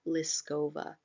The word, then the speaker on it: Liskova: oh by the way the artist is Vera liskova it's spelled l-i-s-k-o-v-a and as a fine artist or as an artist Vera lascova not it's not necessarily looking to solve a